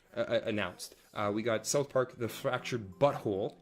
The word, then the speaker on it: The Fractured but Whole: we got South Park the fractured but whole which is how you're supposed to pronounce it it's the fractured buckle which looks like a